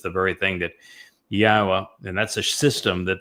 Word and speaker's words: Yahweh: It is Yahweh. There is no B sound in the original Hebrew language.